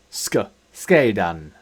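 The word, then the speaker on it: sceidan: However, the c does not make this sound in the combination of sc. So, we have our examples here of Rütsil little zeh two C in the combination of sc, as in English school. Ska skay dan to sever.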